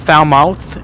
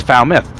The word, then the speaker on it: Falmouth: It is not Falmouth, it's Falmouth. That's how you pronounce it. Yeah. I know some of us have foul mouths, but you know what? We want to keep it PG here. Falmouth.